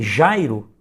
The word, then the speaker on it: Jairo: No meu nome, Jairo, em que a sílaba tônica é a penúltima, nós temos uma paroxítona.